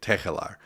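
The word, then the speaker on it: Tegelaar: Tegelar. I even put a little throatiness in the G there.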